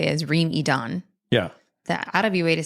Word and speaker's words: Reem Edan: including the pronunciation of Reem Edan. I take it back. It's Reem Edan.